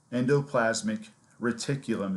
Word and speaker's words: endoplasmic reticulum: big long word set of words endoplasmic reticulum endoplasmic reticulum is how you pronounce this it's also known as ER which